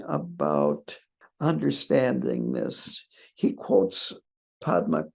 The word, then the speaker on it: Padma: He quotes Padma Karpo or Pema Karpo, I think the way Tibetans would pronounce Padma.